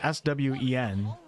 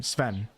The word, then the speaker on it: Swen: You'll hear other people call him Swen. I think both can be right, but I always like to do the pronunciation that the people use from the area that they're pronouncing it.